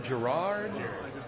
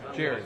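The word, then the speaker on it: Gerad: What's his name? Gerard? Jared. Yeah, it's spelled. G-E-R-A-D.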